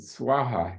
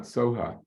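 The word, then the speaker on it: svāhā: do the Sanskrit Mantra which ends with swaha not Soha so the Tibetans somehow they cannot pronounce swaha they they say Soha instead it doesn't make a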